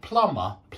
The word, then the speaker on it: plumber: Yeah, but sometimes in the middle, like plumber, we don't pronounce the B.